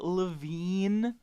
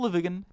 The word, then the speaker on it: Lavigne: Avril Lavigne with the silent E at the end that turns it into a completely different phonetical structure. But now it's just Avril Lavigne.